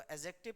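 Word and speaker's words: adjective: क्या है आपका एडजेक्टिव देखो एडजेक्टिव इसको एडजेक्टिव पढ़ा जाता है क्योंकि इसमें डी का साउंड जो होता है वोह साइलेंट होता है एडवर्ब प्रोपो जिशन कंजंक्शन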